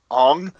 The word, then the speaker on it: Aang: And the thing is, they pronounce Aang's wrong so many times. I'm sorry. You mean Ong? Oh god. What? The thing is, it's an American-made TV series, animated series, and they mispronounced the name.